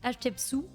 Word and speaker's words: Hatshepsut: Il me semble que c'est tiré d'une histoire vraie, puisqu'on retrouve des personnages emblématiques de l'Égypte antique avec Hatshepsut. Ça se prononce comme ça.